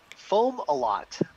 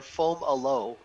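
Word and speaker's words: Fomalhaut: did i did we did how do you pronounce that star that's foam a lot or foam aloe is the secondary pronunciation omelette and fomolo perfect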